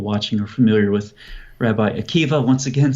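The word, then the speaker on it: Akiba: go back to Rabbi Akiva, very big name, obviously. I'm sure most people watching are familiar with Rabbi Akiva, once again spelled with a B-A at the end, but pronounced with a V.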